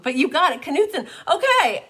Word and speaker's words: Knutson: got it knutson okay i didn't know if the k was silent angelo or if it or if it wasn't silent so so normally like knight as in k-n-i-g-h-t the k is silent so this was my